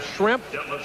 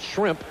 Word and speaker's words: Schrempf: So we have Schrempf. If you mispronounce it a little bit and call it shrimp, and Bird, we kind of a fish and fowl.